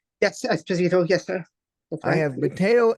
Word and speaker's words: Esposito: how do you say your last name Matel espito right yes espito yes sir I have mat Esposito on my